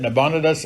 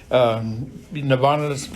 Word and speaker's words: Nabonidus: Now, some people pronounce that Nabonidus. I don't care how you pronounce it. Nabonidus is probably correct. I've just always said Nabonidus, and I can't change now.